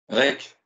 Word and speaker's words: Rech: Rec. R-E-C-H. Ça se prononce Rec à la bretonne. c'est ça? Rec. Oh, ou, c'est aussi, un peu.